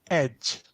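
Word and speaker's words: egy: a vowel and then we only have one word for a or an which is pronounced Edge and that's also our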